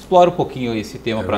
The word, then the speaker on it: PEAH: Então eu me propus a levar uma nova PA para o mercado. E aí criei o programa Encantador de Atendimento Humanizado, cuja sigla é P-E-A-H. A pronúncia fica PA.